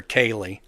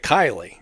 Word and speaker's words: Kylie: They'd call her Kaylee instead of Kylie, which is just Kyle with an extra E on the end of it.